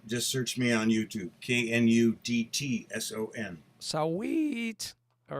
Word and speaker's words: Knudtson: California, they're getting it right because there's some Knudtson dairy out there, but you say the K. Yeah. Oh. Yeah, you pronounce the K. Pronounce the K. Not like knock. It's like Canuck.